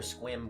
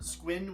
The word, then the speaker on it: Squin: also a quick question is it squin with an N or squim with an m squin with an N okay okay I'm so sorry